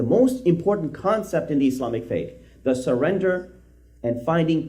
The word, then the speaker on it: Islam: So the word Islam, the correct pronunciation is Islam, not Islam.